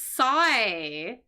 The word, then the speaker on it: psi: Anyways, this is psi. Psi is this letter. I think I pronounced that right.